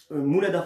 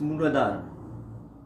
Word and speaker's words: Mooladhara: Et vous voyez, par exemple, le premier, donc celui qui est en lien avec le périnée, qui est le périnée, Mooladhara Chakra.